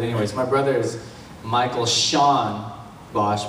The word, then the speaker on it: Sean: And then, this is weird and long drawn out, but anyways, my brother is Michael Sean Bosch, because Sean rhymes with John.